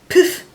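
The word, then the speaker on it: Phiff!: It's in the shade called, well, it's spelled P-H-I-F-F. Poof, I guess is what I'll say.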